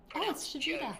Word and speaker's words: Jove: Jove rhymes with rove.